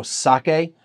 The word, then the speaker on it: sake: something like sake is we sometimes we we emphasize that k is sake or or go sake it's sake and every syllable is the same amount of time and the same emphasis however you may start at a lower pitch and finish at a higher pitch or start a higher